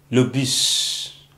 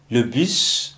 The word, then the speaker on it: bus: Le bus. Le bus. Okay? Le bus is a bus. Alright, so you know in French you don't pronounce the last consonant, but this is an exception, okay?